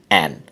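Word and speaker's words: an: এখন বিষয় হচ্ছে এখানে এক সংখ্যার উপর জোর না দেওয়ার কারণে এখানে উচ্চারণ হবে আন, আর যদি এখানে বিশেষ জোর দেওয়া হতো তাহলে হতো অ্যান।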